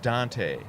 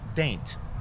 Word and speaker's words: Dante: There's a town called uh If you didn't know how to pronounce it, you would pronounce it Dante, like Dante's Inferno. But it is indeed pronounced Daint.